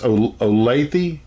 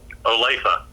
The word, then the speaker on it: Olathe: where those models came from you said it's olathe olathe olathe sorry apollo justin mispronouncing that and he my brother called tell